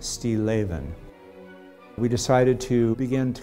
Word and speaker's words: Stilleven: and it means still life and it's actually pronounced Steve lathan we decided to begin to kind of look